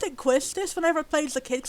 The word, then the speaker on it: Quistis: like i pronounced it quistis whenever it plays the kids i just assumed it was pronounced how it was spelled but i've heard people say it should be called kistis questus i'll call it